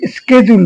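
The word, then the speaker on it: schedule: এখানে একটা জিনিস বলা দরকার আমেরিকানরা তারা শিডিউলকে স্কেজুল বলে। উচ্চারণটাশিডিউল না বলে স্কেজুল বলে। তাই তারা উচ্চারণ করে। আমরা ব্রিটিশ পদ্ধতি অনুসরণ করি। সেখানে শিডিউল কথাটাই আমরা বলছি।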